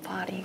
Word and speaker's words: Paris: 런던 아니고 파리. 아, 파리. 아, Paris, Paris, Paris. Paris. Paris. 아니 언제 발음이 그렇게 바뀌었어요?